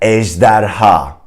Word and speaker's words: ejderha: The first one would be ejderha. Try to say that. Ejderha. It's a 3-syllable word, and I probably like the J sound and also the ha at the end.